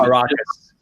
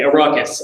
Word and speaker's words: Arrakis: In Dune, for example, the big limitation on the planet, which I can't pronounce the name of, that they move to. Arrakis. Exactly, Arrakis.